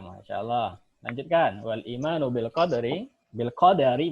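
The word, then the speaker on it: بالقدر: Wal imanu bil qadari bacanya dalnya fathah ya.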